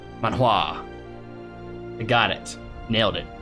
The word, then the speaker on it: Manhua: Pronounced mon, like Pokemon, and hua, like saying what, but emphasis on the what. Manhua. Manhua.